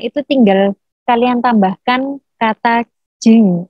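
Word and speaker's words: じん: Kalau kewarganegaraan itu tinggal kalian tambahkan kata jing. Tulisannya jin, membacanya jing.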